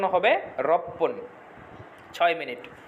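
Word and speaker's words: ろっぷん: পুটা পয়ে পয় রস হয়ে যাবে তাহলে এটার উচ্চারণ হবে রপ্পন ছয় মিনিট রপ্পন ছয় মিনিট এরপরে আছে সাত মিনিট সাত মিনিটটা আমরা নরমাল রাখবো নানা ফোন নানা ফোন এরপরে আছে আট মিনিট।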